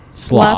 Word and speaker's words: slough: and you see another chunk just kind of slough off. Slough. Pronounced with a- Slough.